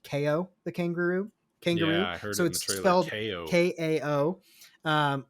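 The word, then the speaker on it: Kao: supposed to be pronounced ko the kangaroo kangaroo k-a-o um which looks like cow but i guess it's it's a play on words he's a kangaroo with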